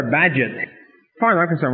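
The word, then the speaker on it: Bagehot: was spelled b a e h o t pronounced badget you now you have a piece of information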